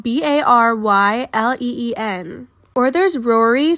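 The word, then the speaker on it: Rorai: For example, one's name is Brylen, but it's spelled B-A-R-Y-L-E-E-N. Or there's Rory, spelled R-O-R-A-I.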